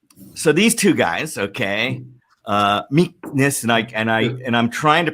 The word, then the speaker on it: Michnus: these two guys, okay, Michnus and I'm trying to pronounce it. It's got like a German little thing in there, Michnus, right? You have to further German.